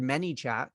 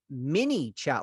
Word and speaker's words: ManyChat: the automation for manychat the word manychat people might say many space chat they might type mini chat like m-i-n-i chat because they misunderstand how I'm pronouncing the word they might uh I've someone one time asked am I saying Manny chat like the person's name